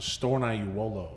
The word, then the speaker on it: Stornaiuolo: spell it out uh it's pronounced stone i you wolo oh